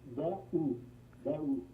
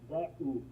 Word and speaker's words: Daoust: No, it's Daoust. Most people say that. Oh, you know what? Yes, I could not. I've seen you post. How do you pronounce that? Daoust. Man, give it to me one more time, slowly. Daoust. Dau. Exactly.